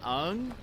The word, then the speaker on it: Aang: If they don't pronounce Aang's, you mean Ung? If they don't pronounce his name right, I'm done.